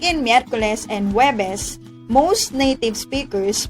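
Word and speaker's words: Huwebes: however in normal conversation most native speakers omit the sounds of letter u and just combine the sounds of h and w and pronounce webes as webes additional information web is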